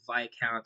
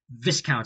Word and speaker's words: Viscount: And just like a 900, it runs all day every day but only serving via count station. And yes, the S is silent. Growing up, I thought it was called Viscount Station.